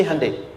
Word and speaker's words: Hyundai: sana bikin Honda sini hundai Hyundai kan dibacanya Hai Ya kan sana Honda